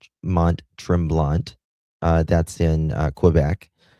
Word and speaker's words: Mont-Tremblant: Near the hotel of Montrel. Am I pronouncing that? I'm not. I'm not. Yeah. Mont Trimblant uh that's in uh